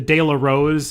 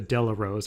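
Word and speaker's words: De La Rose: chronological order that the Dayla Rose uh was the Wednesday feature this was won by uh technical analysis and I'm sorry I should pronounce it the Dela Rose or else Andy Sterling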